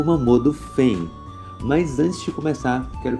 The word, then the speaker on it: Fein: O seu nome é Fen. Nas duas pronúncias, assim no japonês como no americano, fica do mesmo jeito, assim também como a sua escrita, que fica Fen.